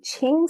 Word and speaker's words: Qin: Well, I am Ching and nobody can pronounce my first name, so don't feel bad about it.